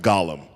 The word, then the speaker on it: Golem: book just be just to be clear it's pronounced Gollum oh my bad can you go over the